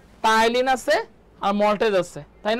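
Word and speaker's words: ptyalin: টায়ালিন আছে আর maltase আছে, তাই না? টায়ালিন, টায়ালিন এর বানানটা কিন্তু আপনাদের ঠিক রাখতে হবে। টায়ালিন, টায়ালিন, পিটা এখানে সাইলেন্ট, ঠিক আছে।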